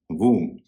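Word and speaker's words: womb: डब्ल्यू ओ एम बी वम और टी ओ एम बी टू जिस तरह से किसी शब्द के अंत में एम बी हो तो बी का उच्चारण नहीं होता है।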